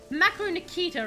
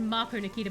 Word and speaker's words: Macro Nikita: mispronounced your name it's it's macro nikita right i think i said marco nikita before but macro right sometimes for everyone if